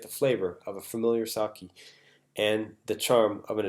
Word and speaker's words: sake: I think I mispronounced sake as saki, which is okay because a lot of people do that all the time. But yeah, it should be sake.